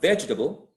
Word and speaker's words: vegetable: And when we think about vegetable, it's like history. Vegetable has the stress on the first syllable, but when we attach